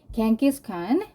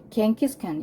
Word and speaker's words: Genghis Khan: 자, 그러니까 기원 후 한 약 1200년경에 Genghis Khan united the numerous small tribes of Northeast Asia under the Mongol Empire. 겐기스칸, 이게 누구예요? 징기스칸이죠. 우린 징기스칸이라고 하는데 영어식 발음은 겐기스칸이에요.